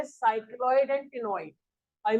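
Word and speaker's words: ctenoid: कॉन्ड्रिक these के अंदर placoid और ऑस्टिक थीस के अंदर साइक्लॉइड और टिनोइड। ठीक है, सी साइलेंट है।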